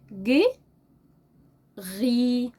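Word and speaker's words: gris: رصاصي رصاصي رصاصي رصاصي ج غي ج غي وممكن برض اقول ج ري ج ري امال الاس دي ايه سايلنت هنطقها طيب هكتبها ازاي ج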